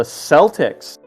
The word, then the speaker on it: Celtic: Their basketball team is officially called the Celtics. No, the word is pronounced Celtic.